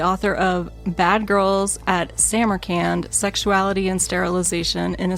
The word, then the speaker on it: Samarcand: Samurand. Not Samarand, not Sam Arand, which I did find websites that gave me both of those pronunciations.